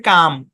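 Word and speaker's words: calm: হ্যাঁ আচ্ছা তারপর দেখেন সি এ এল এম উচ্চারণ কি এখানে এল টা সাইলেন্ট উচ্চারণ হচ্ছে কাম কি হচ্ছেন ক্যাম্প না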